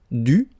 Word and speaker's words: dû: Concevoir, conçu, recevoir, reçu, devoir, dû, mouvoir, mu.